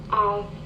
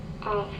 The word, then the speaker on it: off: Off, off. The first word is off, not of. It's off, of.